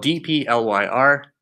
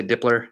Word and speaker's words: dplyr: It's spelled D-P-L-Y-R. It's pronounced dplyr. Some people say dipler, and it stresses me out.